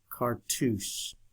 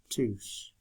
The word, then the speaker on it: cartouche: Okay, let's see if I can spell that. Cartouche. Cartouche.